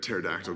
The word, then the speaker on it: pterodactyl: can't you hear it pterodactyl go to the bathroom cuz the P is silent what is Whitney Houston's